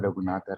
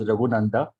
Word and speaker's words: Raghunatha: given the name Raghunatha. All my life, I suffered with this namophobia because my name was mispronounced every time, including the way that you called as Raghunanda. It is Raghunatha.